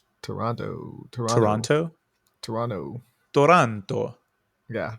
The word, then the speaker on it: Toronto: do the subers also don't pronounce the second T So harshly Toronto Toronto Toronto Toronto Toronto Toronto